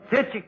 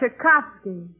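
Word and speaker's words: Tchaikovsky: Lov them Chacha cage deoy Pini bad you Tiski a that's chovsky so I mispronounced one of them yeah and that Diner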